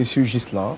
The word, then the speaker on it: Ghislain: prononciez M. Ghislain. Voilà, M. Ghislain. Pas Guilain. Non, pas Guilain.